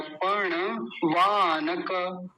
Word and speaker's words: पणवानक: पर्ण, पर्ण नहीं बोलेंगे, पर्ण गलत हो जाएगा। पर्ण तब होता जब ये ण आधा होता। अभी क्या बोलेंगे? पर्ण वानक, वानक नहीं वानक, क पूरा है। जब भी मैं ये कहता हूँ ना पूरा है आधा है, तो बड़ा ध्यान से देखना चाहिए। वानक नहीं, वानक तब होता जब ये हलंत होता, यहाँ पे आधा होता। अभी क्या बोलेंगे? वानक, पर्णवानक। और आगे क्या है?